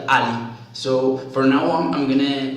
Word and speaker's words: a11y: And so since the 11 resembles so much else, we pronounce it like Ali.